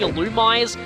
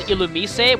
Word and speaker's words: Illumise: Okay, I always called this thing Illumise. Apparently the correct pronunciation is Illumise, which is actually its Japanese pronunciation.